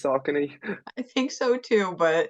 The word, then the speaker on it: Saucony: Yeah, I've heard Saucony, but I'm pretty sure it's Saucony.